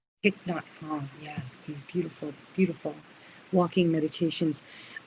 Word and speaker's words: Thich Nhat Hanh: Not Thich Tot. Nhat Hanh. Thich Nhat Hanh.